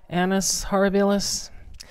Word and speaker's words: annus horribilis: that in Latin but i think it's annus horribilis sounds like I'm saying anus horrible however that's Browns something